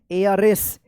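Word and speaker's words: heiress: यानी यहां पे एच साइलेंट रहेगा। एच ई आई आर E double एस। इसको क्या पढ़ेंगे? एयर एस।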